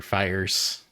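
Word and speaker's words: Fiers: Yeah, it's Mike Fears. Or Fires. Instead of tears. That's where the question was going. It rhymes with tires instead of tears.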